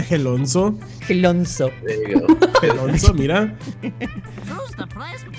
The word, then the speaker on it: Gelonzo: Gelonzo. Se llama Gelonzo. Gelonzo. There you go. Gelonzo, mira.